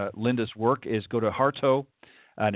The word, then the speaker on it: Hartough: So again, go to HARTOUGH. That's Hartough, is how it's pronounced, .com.